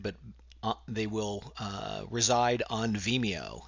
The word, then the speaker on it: Vimeo: I will be using Vimeo, I think that's how it's pronounced, as opposed to YouTube.